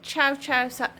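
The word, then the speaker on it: Cio-Cio: Karen says chow chow. I don't know pronounce it.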